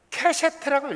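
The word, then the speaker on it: קשת: 이게 이제 케셰트라고 읽어요.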